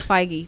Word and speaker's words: Feige: No, it's Feige.